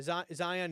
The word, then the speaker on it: Zeihan: Yeah, Zion is spelled Zeihan.